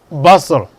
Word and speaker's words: bustle: And the letters are there, but the sound is not there. Look at listen, wrestle, hustle, bustle.